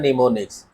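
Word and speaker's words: mnemonics: ये आप जान लीजिए, निमोनिक्स, ये एम साइलेंट रहता है, इसका प्रोनाउंसिएशन होता है निमोनिक्स।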